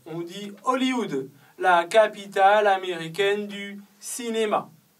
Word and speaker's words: Hollywood: après vous avez Hollywood en français on ne prononce pas le h on dit Hollywood la capitale américaine du